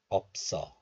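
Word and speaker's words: 없어: one more time so this letter is pronounced as op in isolation and it is followed by a vowel of the next letter so liaison or linking occurs and then the hidden shield sound s sound moves to the next letter and all becomes so then the sound is somehow intensified so this is pronounced as opso let's watch the video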